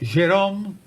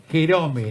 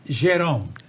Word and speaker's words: Gerome: La verdad que es un gusto grande tener a quien fuera juez, el doctor Jerome, porque así se pronuncia, porque hay algunos colegas que le dicen Jerome, no, es Jerome.